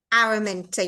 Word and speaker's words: Araminta: I do my intros and outros is it araminta araminta yeah I mean yeah it's funny yeah Americans definitely pronounce it in a different way I just